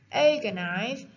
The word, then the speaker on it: agonize: back to the point according to the theories agonize has a strong syllable since the end of the world has